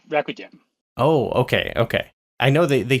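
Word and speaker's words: Racdym: Rakdim? It's Rakudim.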